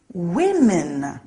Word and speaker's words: women: men woman becomes women look out for that one the pronunciation is a little strange woman women some nouns stay the